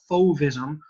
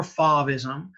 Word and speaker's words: Fauvism: that's going on is called fovism or favism i've heard both pronunciations it goes from 1890